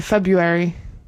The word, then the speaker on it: February: Maybe not February cuz some people say February and don't pronounce the first R.